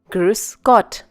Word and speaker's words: Grüß Gott: The beta sign here is the sound of a double S.